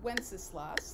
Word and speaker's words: Wenceslas: The first one is called Good King Wenceslas. That's a weird way to pronounce that word, but that's exactly how you say it.